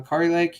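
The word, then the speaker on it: Kari Lake: think Sam Brown's a guarantee I would say car Lake uh Ki Lake yes that's how you say it um I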